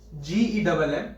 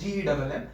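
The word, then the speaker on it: CFU-GEMM: The myeloid stem cell is going to produce one progenitor cell, okay, one progenitor cell, that is CFU GEMM, don't pronounce it GEM, it is GEMM, and while this LSC, it is going to produce colony forming unit for lymphocyte, that is CFUL.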